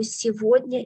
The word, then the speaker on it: сегодня: In the word сегодня, please select these two letters because the word сегодня pronounces exceptionally. We write сегодня, but we pronounce instead of go, во.